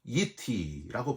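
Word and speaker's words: אִתִּי: 너희는 나를 비겨서 은으로나 금으로나 너희를 위하여 신상을 만들지 말고, 여기서 나를 비겨서, 이게 중요한데 히브리어로는 이티라고 발음합니다.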